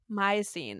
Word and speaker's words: Miocene: Miocene is how you pronounce it.